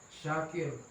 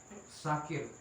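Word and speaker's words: شاكر: Alim Maha Mengetahui nah kata Syakir ini hendaknya jangan disalah bacakan jikalau kita membacanya dengan sakir Innallaha sakirun Alim nah sakir ini artinya beda lagi kalau Syakir artinya orang yang mensyukuri sakir artinya adalah pemabuk nah seperti itu bapapak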